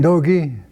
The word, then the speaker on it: D'Ooge: earth by saying your name and then spell it Oh my name is dokie telling her last name is the apostrophe capital